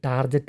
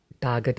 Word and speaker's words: Target: ഇനി ഇതുപോലെ ചാനലുകൾ കേൾക്കുമ്പോൾ തന്നെ നിങ്ങൾ മനസ്സിലാക്കുക, ശരിയായ ഉച്ചാരണം ടാർഗറ്റ് എന്നാണ്, ടാർജറ്റ് അല്ല എന്ന്.